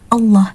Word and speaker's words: Allah: Jadi hindari huruf waw ketika melafalkan lafaz Allah. Murni lam, Allah.